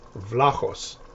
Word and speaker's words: Vlahos: It's not Vlahos, it's not Vlahos, it's not Vlahos. It's Vlahos. Vla, like Vlad the Impaler. And then ch, like your cat working up a hairball.